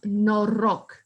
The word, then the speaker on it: noroc: or whatever you have, I'm going to teach you the word, how to say it. And you're going to say noroc. That's how you say cheers in Romania.